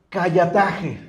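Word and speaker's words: καταλλαγή: Disculpen, hermanos, estaba hablando de una palabra que en el original se pronuncia callataje.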